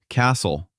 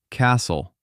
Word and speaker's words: castle: Castle. The T is silent. Castle. Listen.